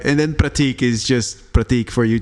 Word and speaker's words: Prateek: to pronouncing it the way it should be pronounced. Hell yeah. All right. Kudos. Dhaval. Kinda. All right. And then Prateek is just Prateek for you two.